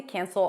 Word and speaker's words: cancel: It's technically a, but before an n, it's smooshier.